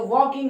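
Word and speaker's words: walking: और वॉक में आईएनजी जोड़ेंगे तो वॉकिंग हो जाएगी। क्या हो जाएगी, वॉकिंग। क्या हो जाएगी, वॉकिंग। यहाँ पर के जो है वॉकिंग हो जाएगी, एल जो है साइलेंट है।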